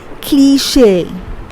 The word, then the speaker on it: cliché: Okay, often it is pronounced as clutch. It's not clutch, but the way of pronouncing it is cliché.